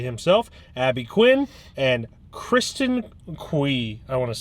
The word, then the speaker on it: Cui: Abby Quinn, and Kristen Cui. I want to say that's how you pronounce it. C-U-I, Cui. It's definitely not coy.